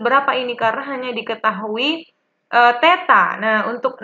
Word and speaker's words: theta: Tetapi kita tidak tahu ini sudut berapa ini karena hanya diketahui theta. Nah, untuk 0 ini, 0 ada garisnya ini, itu dibacanya theta.